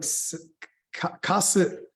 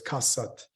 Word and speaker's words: Kaasat: So it's not like Kaasat is, I think, what a lot of people say, but it's Kaasat.